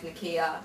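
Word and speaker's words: Naqiyah: Nikita, where are you from? Harrow, but my name's Nikia.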